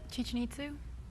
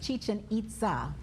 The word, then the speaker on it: Chichen Itza: in the Yucatan Molly Chichen itsu repeat for me please that is incorrect James River Gabriel actually it was a mispronunciation on Molly's part is Chichen Itza names are Shakespearean play